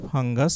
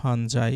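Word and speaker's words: fungi: plural form of দা ফাঙ্গাস এটা হবে হচ্ছে ফাঙ্গি তারপরে হচ্ছে বা ফাঞ্জাই উচ্চারণ হয় চুজ দা রাইট আনসার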